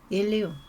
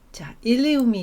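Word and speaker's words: ilium: 그래서 같은 발음이기 때문에이 스펠링에 단어 잘 구분하시고 스펠링 잘 확인하셔야 됩니다 그래서 이제 그 넓은 가장 넓은 뼈죠 엉덩이뼈에서 골반뼈에서 요거를 이제 일리움 엉덩뼈 또는 장골 그래서 여기 이렇게 넓은 여기를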